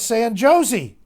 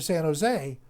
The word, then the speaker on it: San Jose: know the way to san jose the j is pronounced as an h so whenever you see anything latino and it's got a j you pronounce it as h and basically he said